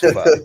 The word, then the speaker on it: pho: It's pronounced pho.